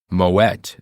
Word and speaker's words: Moët: a Dutch name and the t is pronounced at the end of moette good to know